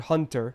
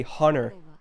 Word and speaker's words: hunter: Like, the way some Americans pronounce the word hunter is stupid. They say hunter. Like hunter. There is no T. Where did the T go?